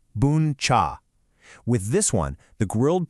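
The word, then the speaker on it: bún chả: This is boncha, pronounced booncha.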